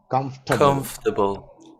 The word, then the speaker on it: comfortable: remember i always say it's not four syllables it's three full comfortable that's how we pronounce it yes so how do